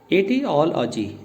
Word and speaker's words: etiology: E space TI space और फिर OLOGY, तो इसकी प्रोनाउंसिएशन बनी एटियोलॉजी, एटियोलॉजी, एटियोल यानी ले आपका ओ के साथ फिनिश हो जाना है, एटियोलॉजी, एटियोलॉजी।